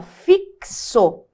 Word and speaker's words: fixo: só que na pronúncia esse x não é som de por exemplo eu tenho assim ó fixo na hora que eu pronuncia como se fosse uma letra k e uma letra S ali ó é como se fosse escrever assim né ó fixo então nós